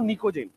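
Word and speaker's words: pnictogen: नाइट्रोजन family को लिखते हैं हम लोग निक्टोजेन लिखते हैं, बट पढ़ते हैं इसको निकोजेन। टी साइलेंट होता है। निक्टोजेन लिखते हैं बट इसको निकोजेन पढ़ेंगे।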